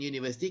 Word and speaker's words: university: Okay, kita pun tak kata an university, kita kata a university. Why a university? Why? Because the pronunciation is Why university? University. Bunyi Y. Bunyi Y.